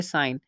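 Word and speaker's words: sign: example है हमारे पास साइन यहां पर हम देख सकते हैं की जी से पहले आई आया और जिनके जी के बाद एन ए गया तो यहां पर इसकी प्रनंसीएशन हम करेंगे साइन सेकंड एग्जांपल है असाइन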